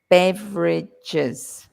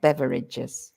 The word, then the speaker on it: beverages: goods uhuh um beverages notice that one beverages three syllables not beverages right so beverages Beverages